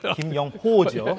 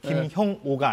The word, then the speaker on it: 김영호: 가령 이제 오늘 뉴스를 얘기하자면 김영호 그 통일부 장관 저하고 이름이 비슷하니까 발음을 김영호죠. 예. 예. 김형오가 아니라 예.